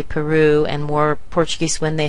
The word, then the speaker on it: Peru: thing happens with Peru you hear the Glide at the end Peru now some people will try to sound more Spanish when they say Peru and more Portuguese when